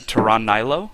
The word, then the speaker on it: Taran Nilo: We have Radix, who is listed as John Barber in Skype, playing, I believe you would pronounce that Taran Nilo.